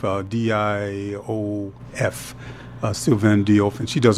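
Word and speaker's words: Diouf: About Sylvain, I believe, is spelled Sylvan, Diop, like Sheikh Anta Diop, Diof.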